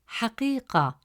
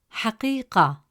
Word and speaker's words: حقيقة: comes immediately after قي, it stretches the short E sound into a long E sound. Instead of pronouncing it as قي, the presence of ya makes it قي. As a result, the correct pronunciation of the word is حقيقة, حقيقة.